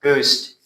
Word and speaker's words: ghost: This word is pronounced ghost. H is silent.